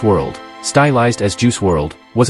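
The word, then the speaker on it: Juice WRLD: Jared Anthony Higgins known professionally as juice World pronounced juice World stylized as juice world was an American rapper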